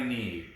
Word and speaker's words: knee: me i scuffed my knee remember all these words have silent letters in them silent w's sign of k's and silent b's knee number seven is